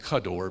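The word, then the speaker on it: כדור: look at this is technical but it's actually pronounced kador because the KA in Hebrew is means like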